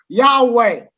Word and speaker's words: يهوه: بتتكتب كده يعوي. الانجليز والامريكان بينطقوها كده، انا بنطقها زيهم. انت بقى عملت فيلم وبتتري عليه. لا لا بص جيهوفا ده طريقه ثانيه من النطق.